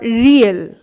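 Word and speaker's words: 리을: দ্বিগত কখনো ধ, কখনো ধ, আবার কখনো ত, দ, এই চারটি উচ্চারণই দ্বিগতের হয়। এরপর রিয়েল, কখনো ল কখনো র, এই দুটো উচ্চারণই হয়।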